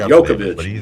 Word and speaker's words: Djokovic: How do you pronounce it? Djokovic.